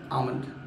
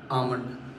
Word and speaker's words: almond: अक्सर सुनाओ almond, ऐसे कौन ही बोलता है almond ना बोल के, ऐसे बोलना चाहिए almond, almond, almond. उसमें L silent रहता है, almond बोला जाता है.